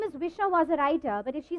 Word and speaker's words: Wisha Wozzariter: So it's called Visha Was a Writer, yes. And it's wordplay because the girl's name is Visha.